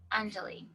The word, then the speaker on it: Anjali: likely um undulate so the a sound is a u like under and then the emphasis is on the first syllable like in many indians anjali radhika uh-huh anjali okay but it isn't